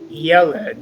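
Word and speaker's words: יֶלֶד: nouns because they form an exception to our rule, which is normally to accent the last syllable of our Hebrew words. So Joseph, being mindful that all of these are accented on the first syllable, could you lead us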